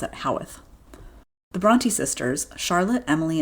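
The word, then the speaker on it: Haworth: I always said Hworth before I knew how to say it, but in New York they pronounce it Howeth.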